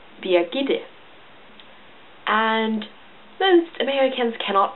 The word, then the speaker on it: Birgitte: This is pronounced Birgitte. And most Americans cannot pronunciate this. They often end up saying Birgitte, Birgitte, and just the closest English name would be Bridget.